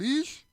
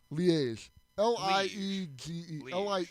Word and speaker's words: Liège: Liège. Liege. Liege. It's kind of like French pronunciation.